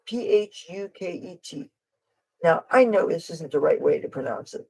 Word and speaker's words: Phuket: another language there is a City in Thailand it's spelled p-h-u-k-e-t now I know this isn't the right way